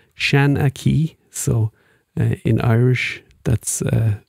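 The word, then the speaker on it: seanchaí: strangely so we're going to spell it more phonetically so um it is uh that is the name for an old Irish Storyteller shanaki so that's what he's going to be called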